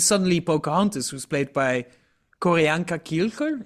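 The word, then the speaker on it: Q'orianka Kilcher: Pocahontas, who's played by Koreanka Kielker. Is that the right way to pronounce it? I'm not going to dare to correct you, but yes, Koranka Kilka, I think is right.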